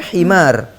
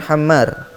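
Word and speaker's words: حمار: Roy Carroll July 6 itu bacanya himar bukan Hammer Hammer artinya keledai ya diulang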